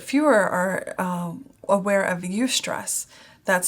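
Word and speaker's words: eustress: negative stress but fewer are uh aware of UST stress that's spelled EU stress and that's the positive stress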